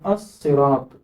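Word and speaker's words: الصراط: അതേസമയം മുറിച്ച് വായിക്കുമ്പോൾ ഇവിടെ ഈ എന്ന ശബ്ദം പറഞ്ഞതുപോലെ തന്നെ ഇവിടെ അസ്സിറാത്ത് എന്ന് വായിക്കണം.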